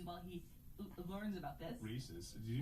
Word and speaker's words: Reese's: re it's a re it's Reese's Reese's versus Reese's Reese's Pieces not Reese's pces love sing you to you